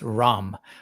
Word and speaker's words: Rama: The legend of Prince Rama. Legend of Prince Rahm. I notic in when they're pronouncing things like that, that last A is sort of not heard.